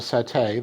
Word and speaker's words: satay: be because see there's an Indonesian dish called Satay that you might have seen in restaurants which I have eaten before that's spelled s-a-t-a-y which is a skewered grilled meat